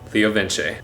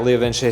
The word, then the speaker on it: LeoVince: Yes, LeoVince. They're an Italian company, so it's not pronounced like Vince, it's pronounced Vince.